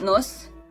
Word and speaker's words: nos: Croatian letter N, and we have Croatian word nos, nos, nos, and actually nose is in English, and it is actually like N in the nose, so you pronounce it the same.